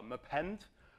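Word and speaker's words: mappend: talking about Mei and uh mend we we pronounce as meend it sounds odd but some sort of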